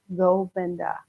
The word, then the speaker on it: Govinda: Govinda, right? Govinda, Govinda, Govinda, Govinda, Govinda, Govinda. So in the first 7 rounds, it's on the first syllable.